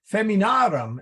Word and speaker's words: feminarum: in here oh well feminarum is f-e-m-i-n-a-r-u-m and that a in the aurum is long so the accent then goes on the a so um I don't